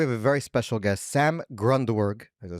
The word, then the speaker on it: Sam Grundwerg: Today we have a very special guest, Sam Grundwerg.